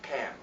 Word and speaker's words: Ham: discovered through research that that name is not Ham but Cam, and with any syllable